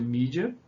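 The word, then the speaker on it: media: Então, em inglês se escreve com E, né? Com E, média, mas se pronuncia mídia.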